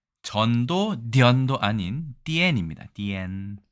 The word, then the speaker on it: 癲: 도년절이니까 네, 디언이라고 읽습니다. 디언이나 전이나 서로 통하는 거죠? 네, 그렇습니다. 실제로 이 발음은 네, 전도 디언도 아닌 디엔입니다. 디엔.